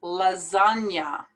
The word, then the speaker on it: lasagna: accepted in british english so this word is pronounced lasagna coco you don't even pronounce the a at